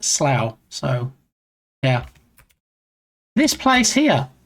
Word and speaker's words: Slough: See, it's not pronounced slough. It is in fact pronounced slow.